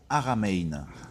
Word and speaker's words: Haramein: Encore une fois, je vous cite un de mes papas, monsieur Nassim Haramein. Ça s'écrit H-A-R-A-M-E-I-N.